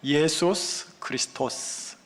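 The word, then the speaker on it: Ἰησοῦς Χριστός: 예수 그리스도, 이걸 헬라어로 보시면 이렇게 읽혀져야 됩니다. 예수스 크리스토스, 이렇게 하면 정확하게 읽으신 겁니다.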